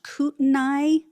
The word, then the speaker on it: Kootenai: This was hosted by I think it's pronounced Kootenai, Kootenai, Kootenai, County Republican Central Committee.